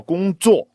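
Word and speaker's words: 工作: and also 去找工作. He said 工作, right? 工作, right? That's a first tone, fourth tone is a pretty common tone pair to sort of mess up in a sentence.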